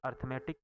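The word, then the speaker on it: arithmetic: इसमें डब्लू जो है, राइटिंग में डब्लू साइलेंट है, अर्थमेटिक में ए साइलेंट है।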